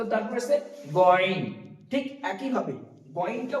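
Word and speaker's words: غين: তো তারপর আছে গয়ন, ঠিক একই ভাবে গয়নটা উচ্চারণ হবে, গয়নটা হালকা কণ্ঠনালীর উপর দিকে, আইনটা উচ্চারণ হচ্ছে কণ্ঠনালীর মাঝ থেকে এবং গয়নটা উচ্চারণ হবে কণ্ঠনালীর উপর থেকে, যেমনটা এখানে আমি দেখেছি।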